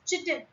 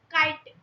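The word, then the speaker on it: chitin: Many children including me if I tell you so many of us pronounce as chittin. Uh at first when I read this I was also pronouncing it as chittin but it's not chitten it's kiten and in animals and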